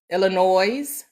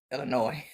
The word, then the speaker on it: Illinois: Illinois. Illinois. I know the S is silent.